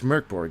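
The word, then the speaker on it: Mörk Borg: basis now mkg it has been oh it's MK Borg is how it's pronounced sorry um MK Borg is um getting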